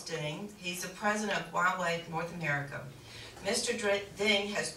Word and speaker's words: Huawei: to be able to, I tell you what, Huawei, took me about 2 weeks to learn how to say it because I kept calling it Huawei, or you can see that how it's spelled down there.